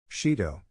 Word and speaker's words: Shido: sure shintaro making izuku's blush quickly go away Shido it's Shido Raine oh my mistake Shin Shido